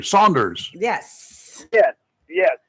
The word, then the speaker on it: Saunders: how are you we got the name pronounced correctly Saunders yes yes yes Saunders not Sanders right apparently Sanders is also an accepted pronunciation of s a